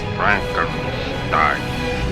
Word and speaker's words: Frankenstein: Frankenstein. My name, it's pronounced Frankenstein.